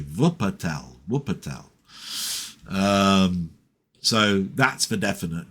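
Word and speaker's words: Wuppertal: I think it was a place called Wupatel. Spelled with a W. Vupatel.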